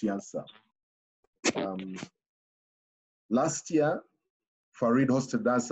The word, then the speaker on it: Janša: I think the J is pronounced Janša.